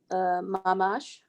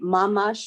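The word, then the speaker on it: ממש: Would you say mamash or mamash? Mamash.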